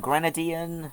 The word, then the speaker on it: Grenadian: supports the British and gr Gren Grenadian is how you pronounce it flag yeah and